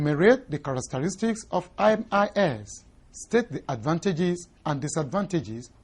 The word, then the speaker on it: MIS: introducing the concept of Mis Mis is the acronym for management information systems and pronounced are separate letters mi s refers broadly